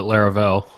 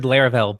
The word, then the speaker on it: Laravel: continue saying LEL yeah it rhymes with Fair pair like pair programming Lara I don't even